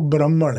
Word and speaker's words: ब्राह्मण: ब्राह्मण है ठीक है जो उसका सही उच्चारण या सही तलफ्फुज है वो ब्राह्मण है ओके जो कि ब्रह्मा